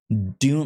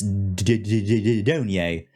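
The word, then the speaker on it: Dunye: Because I was like, I wasn't sure if it was Dune. Like, is that like, how do you pronounce that Y in the end of her name? And it's Donye.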